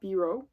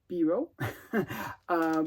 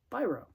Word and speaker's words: Biro: name before like I finally learned how to pronounce his name it's Biro not B row so if you're French you would pronounce it Biro but uh but he's not French uh so he pronounces it pyro so I learned to pronounce it correctly uh